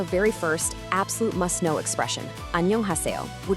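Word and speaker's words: 안녕하세요: Let's break down that pronunciation nice and slow, syllable by syllable. Listen closely to this. An-nyeong-ha-se-yo.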